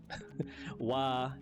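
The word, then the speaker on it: は: But for now, kore wa ikura desuka? How was that? That was perfect. In Japanese, the wa sound is always like wine water, never like a va.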